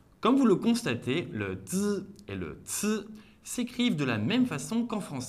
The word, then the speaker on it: zi: Eh bien, le zi n'est pas aspiré, il contient moins de friction et est plus court.